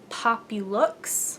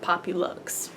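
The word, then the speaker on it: Popluxe: cardigan cardigan is called pop you looks pop you looks P o pu l ux see so like popular but poppy looks very fancy it's a very it's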